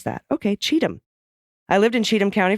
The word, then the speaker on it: Cheatham: people are lovely though the county is pronounced like Cheatham as in when donors send money to Trump he's guaranteed to cheat him I don't have